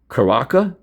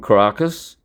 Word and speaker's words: Caracas: Actually, they call it Caracas. Like it's sort of like Nikola, not Nicholas, Nikola Tesla, Nikola Maduro, not Nicholas, right? So Caracas, but it's Caracas. You spell it Caracas, but they say Caracas, just like Nikola Tesla.